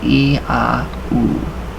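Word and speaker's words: IAO: So it's pronounced E-A-U. So E-A-U.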